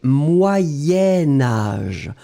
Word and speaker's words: moyen âge: en fait c'est que comme je vais le lier à âge je vais le prononcer moyen âge moyen âge et alors effectivement vous décrivez moyen vous écrivez âge mais comme vous faites le lien entre les deux vous allez prononcer moyen moyenâge d'accord allez on continue